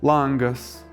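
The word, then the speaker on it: langas: the so-called mobile stress, that is, in some forms the stress would fall on the first syllable of the stem. For example, láng-as “a window” láng-o, láng-u, láng-us. In others - on the ending, for example, lang-aĩ, lang-áms.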